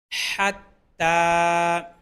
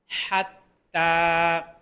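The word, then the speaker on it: حتى: যাবে মানাজিলা মানাজিলা মানাজিলা হাত্তা হা কণ্ঠনালীর মধ্যখান থেকে উচ্চারণ হয় আমাদের গলার যে কণ্ঠনালীটা আছে কণ্ঠনালীর মধ্যখান থেকে উচ্চারণ হয় হা এবং আইন খেয়াল রাখতে হবে হাত্তা হাত্তা হাত্তা আদা আদা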